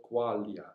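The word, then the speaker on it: Quaglia: an accordionist called roberto qualia i'm not sure the pronunciation the surname is spelled q u a g l i a as far as annoying cases like this the g is not pronounced so what i'm going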